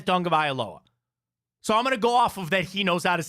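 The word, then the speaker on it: Tagovailoa: to say his last name and he says dong of aloa so I'm going to go of that he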